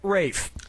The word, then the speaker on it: Ralph: yourself yep ra Fine's first name is spelled like Ralph but pronounced Rafe they're all Joseph findes